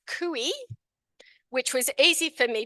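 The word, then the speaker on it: cuy: looks like guy but with a c you pronounce kui which was easy for me to remember cuz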